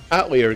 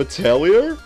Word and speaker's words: Atelier: Like, I always called them Atelier, and I really like the way Atelier sounds. And then the pronunciation was Atelier.